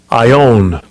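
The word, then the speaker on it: aion: Age world right the Greek word is Aon or ion and when you go to it this is the pronunciation strong G 165 I own I own as in I own your ass it says forever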